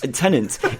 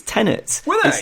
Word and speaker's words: Tenet: by people and even tenants even within the movie even within the movie people were saying tenant and i was like it's tenets it's not i swear when um